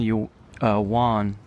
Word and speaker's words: yuan: I used to call yen yuan when I first got to China. I was like, oh, it's yuan. It's like Spanish pronunciation. And they basically pronounce it like Japanese yen, but a little softer.